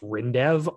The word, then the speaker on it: Rindev: new colorado company called i guess it's pronounced rindev r-i-n-d-e-v and they announced recently that